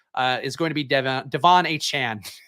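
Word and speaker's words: De'Von Achane: is going to be Devon a Chan Devin hey Cheney have come up with different pronunciations for his name but Devon a Chan is right now I don't know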